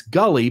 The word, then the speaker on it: Gully: And it's Gully, by the way.